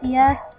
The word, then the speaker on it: Sia: That's how you pronounce it, Sia.